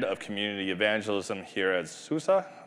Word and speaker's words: SUSE: I am the head of community evangelism here at SUSE. It's S-U-S-E, it's pronounced SUSE.